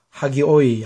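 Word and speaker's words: ἅγιοι: 뜻입니다 자 그 다음에 그래서 왜 하가 되느냐 하면 여기와는 다르게 여기는 전부 다 연승표로서 h 발음이 포함이 안 되죠 여기에는 강순표죠 그래서 허가 포함되어서 하교사들은 것입니다 남성이고 하기야 그 다음에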